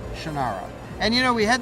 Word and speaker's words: Shannara: so many years, that if you talk about the book, it's Shannara. See, I almost said it wrong. It's the Shannara Chronicles. If you're talking about the TV show, then it's Shannara.